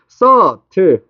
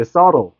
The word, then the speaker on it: subtle: 너네 이거 subtle이라고 읽어야 돼. 적어줄게 발음 자체를. subtle. 알겠지? subtle. 됐어. 비발음 subtle 아니야.